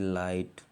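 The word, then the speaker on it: light: और आपको बता दें, अगर जी एच टी एक साथ आए तो जी एच साइलेंट हो जाता है। टी पढ़ते जैसे लाइट, letter, like, Liston, life.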